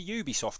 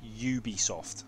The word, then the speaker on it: Ubisoft: should be pronouncing it Ubisoft okay Ubisoft not Ubisoft Ubisoft that is the French the French pronunciation of Ubisoft we have confirmation we